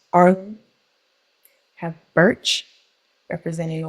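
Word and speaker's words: Ailm: We have the silver fir, representing the letter A, pronounced Arlum.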